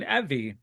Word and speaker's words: Evey: also joined by Hurricane Evey.